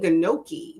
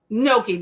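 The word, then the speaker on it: gnocchi: Um, Vanessa had leftover high protein ginoki. No, I said that wrong. Noki, isn't it? Noki. The G is silent, right? Noki with chili and cheese.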